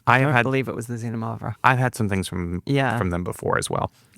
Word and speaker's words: Xinomavro: So Xinomavro, we're going to say it correctly now, which literally translates to sour black.